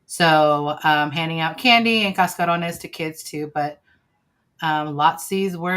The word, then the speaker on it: cascarones: Is it cascarones or casta with like S-T-A? Cascarones. No, it's a C. Okay. C-A-S-C-O. C-A-S-C-A. C-A, yeah. R-O-N-E-S. Okay. Cascarones.